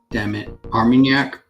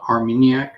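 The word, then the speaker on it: Armagnac: to pronounce amarak yeah arminyak and uh baccarat what he said Barack a rap and I said and she she was like yeah I think you're pronouncing it wrong it's called armeniac not arminyak the pro the proof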